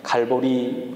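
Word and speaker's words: 갈보리: 라고 불렀던 것입니다 09 달을 라틴어 식 의 발음으로 하면 갈고리 라고 한다고 합니다 골고다 언덕 칼로리 언덕 이라고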